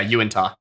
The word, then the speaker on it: Uinta: Yeah, Uinta. Uinta Mountains looming in. Horrible spelling for how it's pronounced.